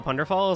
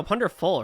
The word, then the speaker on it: Punderful: Chat, if you guys didn't know, Punderfall is actually... am I saying it right? No, Punderful, right? I keep saying fall.